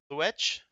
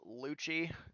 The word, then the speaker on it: Luech: But is it Luech, or am I close? It's pronounced Lucci, so think of just Gucci with an L, and it's spelled funny.